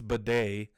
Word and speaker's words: Beatty: Tyler Beatty, which apparently it's Bidet is how you pronounce it, that Mitch Holthus mentioned on the radio broadcast, because he's with the Broncos.